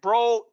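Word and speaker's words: Broad: fit uh for you eli bro he pronounces it bro um i know about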